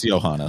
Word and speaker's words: Johannes: I don't know how to pronounce his name. It's Johannes.